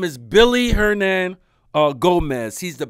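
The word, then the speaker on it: Willy: to be it's it's it's a w but it's in his country they pronounce it with a B so his name is Billy hernand uh Gomez he's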